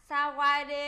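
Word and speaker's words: สวัสดี: Xin chào sẽ đọc là Sawadee.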